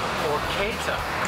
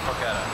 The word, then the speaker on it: porchetta: winning yes you are but first things first pronunciation it's actually pora pora but she says uh she just says poretta there we go on colorful Hastings Street one